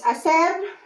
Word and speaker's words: hacer: Oh yeah, before we move on, remember in Spanish, it's always silent H. So we spell it, but we don't pronounce it. So it's hacer, and then hago.